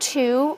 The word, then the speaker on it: two: So the word to, we don't pronounce the W, but it's there because that word shares meaning with other words that have a sense of two-ness, like twin and twice.